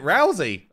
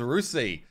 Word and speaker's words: Rousey: far do it Rhonda is it Rousey I thought it was rusi there you go anyway